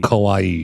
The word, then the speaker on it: kawaii: pronounce that word for kawaii kawaii it's like Kawaii with a K what is Kawaii uh